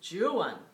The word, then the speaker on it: Juan: for a man and in Spanish it's Juan j in but for Byron it's Jan and we know that and that's the only time that's the only time it's it's it's donjuan but it is H